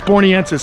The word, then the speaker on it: borneensis: It's borneensis, because there's Badiger borneensis.